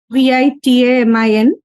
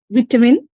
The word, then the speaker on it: vitamin: VITAMIN. According to British accent it is vitamin, and according to American accent it is vitamin.